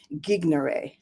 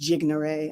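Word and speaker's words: gignere: word genius comes from the latin word gignare which also could be pronounced jignare i've heard it both ways but it means to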